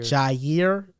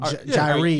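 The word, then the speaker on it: Jaire: Jairi. You're good. I was going to say that. Yeah, you're good. Jairi is not how you say it.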